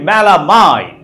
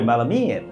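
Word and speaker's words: melamine: আমরা বলি মেলামাইন, হবে মেলামিন, আলামিন বলতে পারলে মেলামিন কেন বলতে পারবো না তাই না? আমরা বলছি মেলামাইন, ভুল, মেলামিন তাই না, আলামিন বলতে পারলে মেলামিনও বলতে পারবো।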